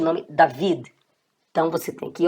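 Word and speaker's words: דוד: David. David significa Davi, né? Ou você pode mesmo colocar normalmente o nome David.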